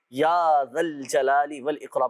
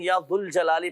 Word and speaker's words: یا ذا الجلال والاکرام: یا ذا الجلال والاکرام، یا ذا الجلال والاکرام۔ اچھا، بہت سے لوگ یا ذو الجلال پڑھ رہے ہوتے ہیں، صحیح تلفظ یہ کہ جب یا کے ساتھ پڑھا جائے گا تو یا ذا الجلال والاکرام، یا ذا الجلال والاکرام، یا ذا الجلال والاکرام، اس انداز سے یہ وظیفہ پڑھنا ہے۔ اب یہ نماز فجر